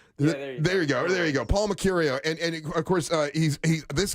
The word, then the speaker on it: Mecurio: It's Mecurio, right? Yeah, there you go. Paul Mecurio.